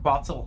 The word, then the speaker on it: Quetzal: But I opted for the I forget how you, it's Quetzal, I think it's pronounced Quetzal Hunter helmet.